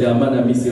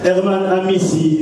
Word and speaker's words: Herman Amissi: Alors, je n'ai pas bien prononcé mon nom, c'est Herman Amissi, reprend. Herman Amissi, merci.